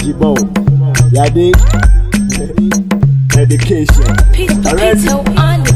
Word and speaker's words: Jhybo: J-A-Y-B-O is pronounced Jibo.